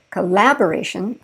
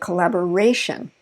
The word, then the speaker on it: collaboration: So notice I didn't say collaboration, I said collaboration.